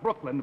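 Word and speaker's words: Brookeland: The name of the town is Brooklyn, but it's spelled B-R-O-O-K-E-L-A-N-D.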